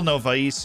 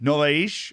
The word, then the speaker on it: Novais: it through the middle novais is there sorry novaish we've been taught how to pronounce portuguese names not ivari wisely able